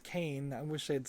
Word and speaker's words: Cayne: to clone their main boss and it is pronounced Kane I wish they'd say the name out loud